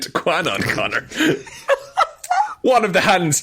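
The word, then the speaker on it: Kwannon: a very good job not saying Qanon every time you say Quanon just to let you know about it's actually well Conor I don't deserve any praise it's spelled K W A N O N Of course it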